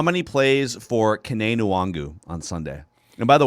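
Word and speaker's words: Kene Nwangwu: whoever the broadcaster was last week was saying wong wu and somebody else had a pronunciation calling him kenny it's kane nuwangu is how you pronounce it so how many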